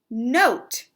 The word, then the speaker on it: note: Note. And I made the O sound because I saw this silent E.